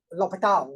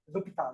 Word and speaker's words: L'Hôpital: Correct pronunciation? Sure. L'Hôpital, right? How do you pronounce it correctly? L'Hôpital.